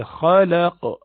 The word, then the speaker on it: خلق: خلق, kha is huruf musta'aliya as well, you pronounce with a rounded mouth. So you say khalaq, kha. It's actually not rounding your mouth.